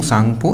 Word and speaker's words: Tsangpo: में से मिलते हैं शैंपू है यार लौंग सांगपो इंग्लिश में से लिंक पीटरसन को टीम जो है वह साइलेंट है पीपल से निकलने के बाद में